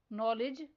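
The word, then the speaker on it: knowledge: Next word है नॉलेज। इसमें silent letter के और साइलेंट लेटर डी पर सर्कल करना है।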